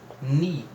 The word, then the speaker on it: knee: Aqui, ó, essa palavra se escreve K-N-E-E, mas nós pronunciamos ni, porque o K ele é mudo, tá?